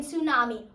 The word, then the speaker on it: tsunami: Like, what is the need for T in tsunami or P in pterodactyl? It just makes no sense.